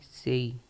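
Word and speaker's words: sei: ठीक है छ को हम कहेंगे इटालियन में सेही छ को हम कहेंगे सेही सॉरी गा छ को हम कहेंगे सेही हिंदी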